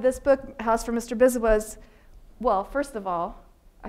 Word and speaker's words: Biswas: That's how I pronounce it, Biswas. I think it's maybe more like Biswas, something like that.